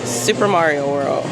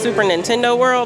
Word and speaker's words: Super Nintendo World: I think it's actually pronounced Super Nintendo World. Calling it like I said, this is Super Mario World to me. But I think the proper term is Super Nintendo World.